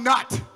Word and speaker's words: Nutt: I am your ringmaster, John Nutt. And I will tell you what, which rhymes with nut, the Dr.